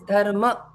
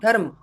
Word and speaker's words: dharma: It is yoga, it is dharma. So it's not dharma. Dharma is wrong. Dharma is Hindi, but dharma is correct in Sanskrit.